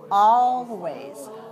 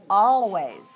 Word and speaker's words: always: the word does the is the l silent in this word always no you must put your tongue on the gum ridge for the all oh